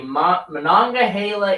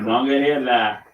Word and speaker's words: Monongahela: 27 people were trapped on the Monongahela Incline. Said that correctly. Monongahela. I'm not from the area, and I can still pronounce it correctly.